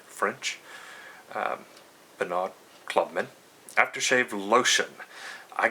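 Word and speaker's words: Pinaud: Man by how I I guess it's pronounced panod p penod p i n a u d French um penod Clubman After Shave lotion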